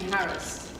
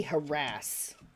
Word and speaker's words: harass: the female teachers being Harris if that was like people if that was of you and your teacher Harris I hate that pronunciation it should be harass like with an ass but like Harris hey